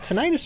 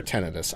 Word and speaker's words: tinnitus: I do have tinnitus off Is it tinnitus or tennitus? I don't know. I've heard it pronounced both ways.